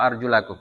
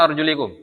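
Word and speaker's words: أرجلكم: Ya wamsahu biruusikum wa arjula wa arjulakum. Arjulakum atau arjulikum? Arjulakum. Ya. Sebagian ada yang membaca dengan wa arjulikum. Ya, karena dia maktuf kepada apa? Masfur ras ya. Tapi jumhur membacanya dengan arjulakum ya.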